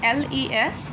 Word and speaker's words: les: Then, the fourth one is les, l e s. The s is silent, and we will just say les.